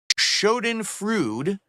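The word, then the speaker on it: Schadenfreude: what the word means that's Shen frud that's how you pronounce it I know what the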